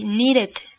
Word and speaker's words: needed: And so, in the past tense, you would say needed. Needed. I needed. Exacto. I needed. I needed. Pronuncias el sonido de ed claramente como ed.